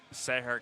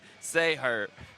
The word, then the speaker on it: Sahar: what Tyler I mean it is spelled say her but her say a her it's not how you say it how did I say it you said say her and it is definitely say sah John John how's gazan